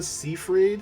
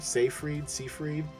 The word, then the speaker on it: Seyfried: And let me tell you, Amanda Seyfried, I think that's how you say her name, Seyfried, was just perfection.